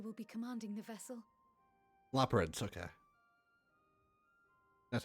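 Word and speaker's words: Loporrits: Laprids.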